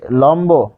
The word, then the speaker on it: লম্ব: যোগ ব এরা বসলো উচ্চারণটা কি হচ্ছে উচ্চারণটা হচ্ছে লম বো কেন ওকার হলো এই যে বয়ের সাথে অ রয়েছে এই অটা শেষে রয়েছে তাই ও হয়েছে লম্ব পাশাপাশি আমরা যদি দেখি